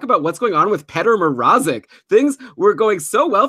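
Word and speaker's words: Petr Mrázek: I'm going to consult our handy dandy pronunciation guide that says, yeah, Petr Mrazek.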